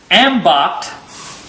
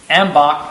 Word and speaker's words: Ambacht: got we're uh we've got an ambo or is it ambach it's ambach I don't know ambo I